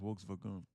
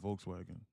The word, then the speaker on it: Volkswagen: It's pronounced wolves vagun, not Volkswagen.